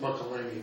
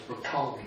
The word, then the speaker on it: McCollum: I noticed everybody pronounces it McElhaney, but it's McCollum Street.